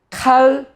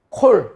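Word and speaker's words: כָּל: 칼, 제, 밤이 아니고 요거를 어떻게 읽는다 그랬어요? 이 카메츠를 콜. 왜요? 자음, 모음, 자음. 액센트 없는 이제 폐음절이라고 그랬죠. 폐음절. 액센트는 뒤쪽으로 간다 그랬죠? 그래서 자음, 모음, 자음. 그래서 이 액센트 없는 폐음절이기 때문에 보 이렇게 읽어줄 수 있다 그랬죠.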